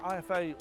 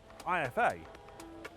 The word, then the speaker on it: IFA: It means I'm back at IFA this year for 2025 to take a look at the latest and greatest technology. But the only problem is, I've been saying IFA all wrong. It's not called IFA, it's called IFA.